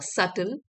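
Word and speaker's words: subtle: Here is here is अ सटल। इसमें B silent है।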